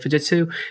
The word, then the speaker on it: Fujitsu: Let's go back to that original one, because on here, you're going to see things like, you know, Fujitsu. Yeah, that's how you say it, Fujitsu, as well as, where is my other one?